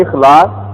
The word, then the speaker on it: اخلاص: اسی ردم پہ استعمال ہوتا ہے اخلاص. عربی زبان کے تلفظ میں کہیں گے اخلاص، خالص کرنا.